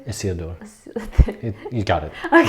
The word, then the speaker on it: Isildur: Isildur.